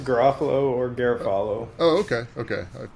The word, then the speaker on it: Garofalo: just to make sure oh Garofalo is fine uh Garofalo is the one I heard a lot growing up um it's an